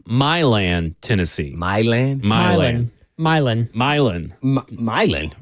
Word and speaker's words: Milan: Milan? Milan. Milan, right? Milan, Yeah. I guess. Not Milan. Oh. Not like how it's pronounced everywhere else in the world.